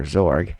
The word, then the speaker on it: Xorg: default session running on xorg or zorg if you want to pronounce it that way and cinnamon on whand